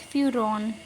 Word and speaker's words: furan: When there is an oxygen, it is known as furan. The spelling is Furan. We pronounce it as furon.